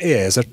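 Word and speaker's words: AI_R: It's called, I think it's pronounced AIR, is that right? AI underscore R. Correct. Pronounced AIR.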